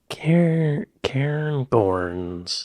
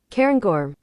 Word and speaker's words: Cairngorm: Cairngorms.